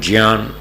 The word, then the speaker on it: ज्ञान: संस्कृत में इसका शुद्ध उच्चारण है ज्ञान।